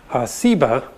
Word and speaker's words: Seba: think is related that has just a different s sound seba and ugly explains that